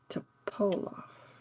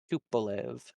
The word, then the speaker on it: Tupolev: DJ Groove and Topolov, right? Whoa, Tupolev. Tupolev. the accent on the do.